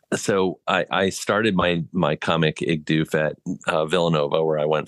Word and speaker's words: Igdoof: It's Igdoof. That's right. Igdoof is right.